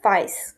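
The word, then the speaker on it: weiß: দেন white কালারকে বলে হচ্ছে ভাইস, ভাইস, ভাইস, ভাইস। হোয়াইটকে ভাইস বলে।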